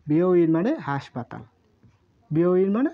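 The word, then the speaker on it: びょういん: বিও ইন মানে হাসপাতাল, বিও ইন মানে হাসপাতাল, হাসপাতাল।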